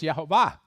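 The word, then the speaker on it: Jehovah: Adonai, which if you take those vowels and you put it with the consonants, it's Yhoba, which is not something any Hebrew speaker would have said, but of course, some English speakers have said it.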